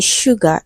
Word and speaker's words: sugar: So the final answer to this question is option A because letter S in sugar is also pronounced as sh.